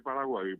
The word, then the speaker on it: Paraguay: tapir cuay decimos nosotros resulta que como Paraguay es Paraguay Paraguay Paraguay Esa es la correcta pronunciación la palabra paragu así como es Uruguay no es Uruguay así como es tarí